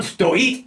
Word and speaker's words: стоит: Remembering to stress the second syllable of the word for stand that we get, on stoit na sypachkach.